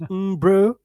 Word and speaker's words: Umbro: what it is, but I know it's pronounced Umbro. That is correct.